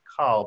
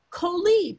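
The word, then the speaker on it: כל: And Rabbi report says, look at kol, which looks like it should be pronounced kal, but it's always pronounced kol.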